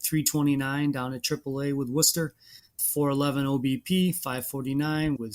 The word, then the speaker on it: Worcester: Franchy has been playing some first base at AAA Worcester, and that was just my opportunity to get the word Worcester in there and pronounce it correctly while hitting pretty good in this class.